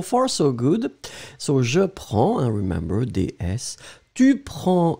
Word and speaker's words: prends: So, je prends, and remember, DS, Tu prends des S, il, elle prend des. We pronounce them exactly the same way, but still, keep in mind that we should definitely write them like that.